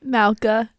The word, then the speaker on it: Mauka: How do you pronounce it? Mauka. It's at the very center of the island of Oahu.